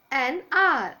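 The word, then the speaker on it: hour: Now it is beginning with H. H-O-U-R. R. H is silent here. H is consonant. But while pronouncing, H is silent. So N R.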